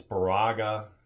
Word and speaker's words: Baraga: It's Baraga, it's Ontonagon. Big Papa's the one that corrected our pronunciation, not pronunciation.